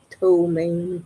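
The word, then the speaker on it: ptomaine: way it's spelled cuz I was spelling it to O M A N E when I Googled it. But it's a P. P T O M A I N E. Toain poison.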